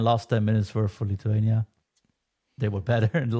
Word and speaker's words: Lithuania: then we go into Lithania do I pronounce it properly Lithuania you call it Lithuania Yeah.